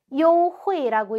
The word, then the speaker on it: 优惠: 그 다음 단어는 발음이 优惠. 요회라고 읽고요.